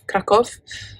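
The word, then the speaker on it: Kraków: but this could also i'm hearing krakow krakov krakov that's the right pronunciation pronunciation that's in poland krakow i'm picking up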